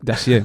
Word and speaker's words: Dacier: Yo no sé el francés, yo lo pronuncio fatal, me puedes corregir, eh. Eh, ¿cómo es el Dacier o Messieur Dacier. Dacier, más o menos.